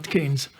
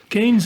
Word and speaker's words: Keynes: prêtre, c'est-à-dire John Maynard Keynes. Keynes, vous savez, mais oui, Keynes s'écrivait d'abord, et c'est la prononciation ensuite qui s'est anglicisée, Cahan, C-A-H-A-N-E-S. Et bien entendu, Keynes est un